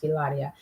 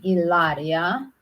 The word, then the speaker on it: Hilaria: And I must say, I never heard of name Hilaria because they don't pronounce H. So Hilaria, I never heard of that name.